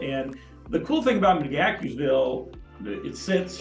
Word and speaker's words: McGaheysville: the correct pronunciation is I don't see a K in there but apparently there is okay uh but there's that like so as we said it's McGaheysville and the cool thing about mcgackersville it sits it's right